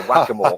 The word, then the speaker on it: XACML: It's either XACML with a Z or XACML, like exactly.